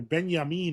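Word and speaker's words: Binyamin: Benyamin is how they pronounce it in Hebrew cuz he got married to a Funko Pop, says Schwarz.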